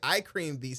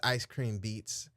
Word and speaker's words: Ice Cream Beats: Is it Ice Cream Beats? Oh, I've been saying iCream Beats this whole time. That's crazy. All right, I apologize, Ice Cream Beats.